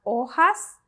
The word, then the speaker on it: hojas: Las hojas verdes. Las hojas verdes. Remember, do not pronounce your H.